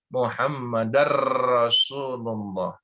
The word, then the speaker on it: Muhammadar Rasulullah: Syahadat Rasul ini adalah pengucapan kalimat wa asyhadu anna Muhammadar Rasulullah. Kenapa dar? Karena itu ada tanwin bertemu dengan huruf ra. Itu kalimatnya adalah hukum idgham bila guna.